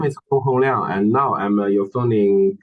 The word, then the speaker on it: Gong HongLiang: Yeah, actually, you can call me Gong HongLiang. Gong My name Hong.